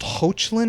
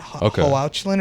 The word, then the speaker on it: Hoechlin: Tyler, and his last name I think is pronounced Hoechlin or something like that. Hoechlin or something like that.